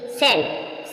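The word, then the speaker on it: scent: कहां पर साइलेंट है सी सेंट सेंट मींस गं एस सी ई एन टी सेंट सेंट means गंद जो एस के बाद सी आएगी वह सी साइलेंट है सेंट सेंट मींस गं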